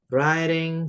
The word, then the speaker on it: writing: Writing stories. Ini W-nya enggak usah dibaca ya, Guys. Jadi bacanya langsung ke R aja. Writing gitu ya.